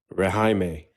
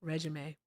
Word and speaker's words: regime: Rahime. No regime.